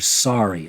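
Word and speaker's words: Saari: out of the way you saw it how it was spelled s a a r i so that's Mr sorry I'm sorry Mr sorry yes you indeed I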